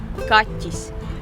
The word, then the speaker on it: kaķis: A mí me cuesta mucho pronunciar la palabra gato en letón. ¿Cómo se dice gato en letón? Kachis.